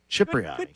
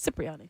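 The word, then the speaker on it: Cipriani: Speaking of Cypriani. Good work. It's like you've done this before. I always thought it was Criyani.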